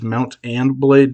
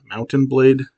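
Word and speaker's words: Mount & Blade: I'm a I'm a fan of the video game Mountain Blade, which is Mount Anblade, not Mountain Blade. That's kind of hard to pronounce without just sounding like Mountain Blade.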